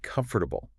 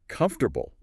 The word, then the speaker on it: comfortable: Learners often say comfortable four syllables. Mhm. But native speakers almost always it's more like comfortable three syllables. That middle one just disappears.